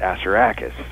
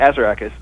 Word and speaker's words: Assaracus: Assaracus, or the actual pronunciation is Assaracus, but I wanted to put the emphasis on the first syllable for all kinds of reasons. But so we called it Assaracus.